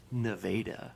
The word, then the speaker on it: Nevada: There's also a Nevada, Missouri that's spelled the exact same way as Nevada, Missouri. And Ooh, no, it's actually Nevada.